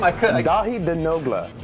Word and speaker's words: Denogla: I could Dahi Denogla.